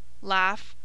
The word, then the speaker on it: laugh: bot fright nigh sigh in the following exceptions however GH is pronounced as a f cough chof cloth enough laugh rough Slough tough trough when wh begins a